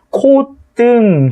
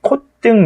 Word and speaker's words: 콧등: 마찬가지로 콧등 해가지고 이게 표준 발음이잖아. 콧등 이렇게 디귿으로 시옷을 디귿으로 발음하는 거 허용한다.